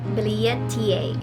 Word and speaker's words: billietiae: today's unboxing is this is our philodendron bilia ta and yes guys that's how you say it